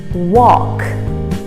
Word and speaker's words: walk: who mispronounce this word walk walk walk so the a sounds like an o and the l is silent walk walk just like